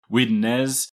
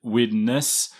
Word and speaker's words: Widnes: similar debate online as is it widnes is it witness it seems like there's regional variations and i'm just saying